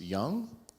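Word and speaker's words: Dzung: And just chiming in is, I believe it's pronounced Young, D-Z-U-N-G. Apologies for my pale-faced pronunciation. Okay. Young says, respect, I guess. Who's Young? Jung, oh, D-Z-U-N-G.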